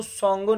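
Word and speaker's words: Tsangpo: तिब्बत में इसको सगंगो नाम से जाना जाता है। टी साइलेंट है। सोंगो तिब्बत में अरुणाचल प्रदेश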